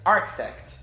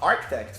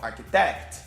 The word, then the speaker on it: architect: O stress está na primeira sílaba, que é architect, tá? Mas devido à semelhança dessa palavra com o português, que tem arquiteto, e a nossa sílaba tônica é o té, muitos alunos acabam falando, em vez de falar architect, falam architect. E isso é um erro de stress.